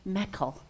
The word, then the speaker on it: Michael: what his name was he said it was mekel which we found out was the Scottish pronunciation of Michael and well Michael told